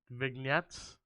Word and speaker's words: vignettes: so drawn to a character by the vig vignettes i think that's how you pronounce it v-i-g-n-e-t-t-e-s vignettes uh it's like videos